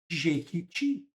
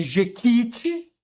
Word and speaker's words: Jequiti: Vocês usam o produto Jequiti. Vejam, pessoal, Jeqiti não tem acento, tá? E é uma oxítona, não é? Ject. Não é jequite, é jequiti, tá?